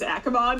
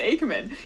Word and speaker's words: Aman: Aman um I I haven't in the past pronounced it as aimon and I've realized it's actually pronounced Aman you'd think I know